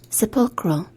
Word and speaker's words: sepulchral: do that said paul roll sipulco hold on sepulchral sepulchral sepulchral sepulchral okay uh whoops whoops oh